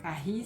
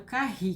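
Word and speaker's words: Kahi: Carri se escreve K-A-H-I.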